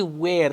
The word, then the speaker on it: were: Este were tem a mesma pronúncia do pronome interrogativo where, que quer dizer onde.